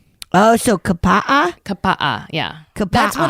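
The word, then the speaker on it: Kapaʻa: I have heard that in the Hawaiian, like when in pronouncing Hawaiian words, you pronounce every vowel. Oh, so kapa'a?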